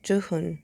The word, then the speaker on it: Jooheon: not i'm sorry but i believe it's joohoon because i heard the members calling him um johony so i believe that the the right pronunciation is to hoon of of the name without the uni the the at the end um and uh this